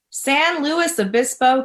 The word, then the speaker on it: San Luis Obispo: So you are on the West Coast, specifically, pronounce your city. San Luis Obispo, California.